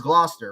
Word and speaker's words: Gloucester: one that's tricky in mass is Gloucester right yes yeah oh everybody else say GL everybody get tricked up we got a